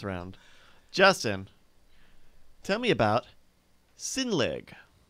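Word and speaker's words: Sinnlig: points for this round Justin tell me about sin league say it again sin league spell it s i n n l IG sin league there's three to one in your favor you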